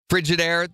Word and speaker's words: Frigidaire: Frigidaire, the refrigerator company, you know, Yeah. it's spelled frigid, A-I-R-E, is frigid air.